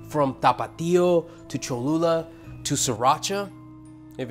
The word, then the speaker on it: Sriracha: Sriracha rhymes with muchacha.